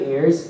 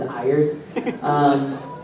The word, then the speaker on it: Ayres: So my name is Greg Ayres, contrary to what is pronounced on the internet as Ayres.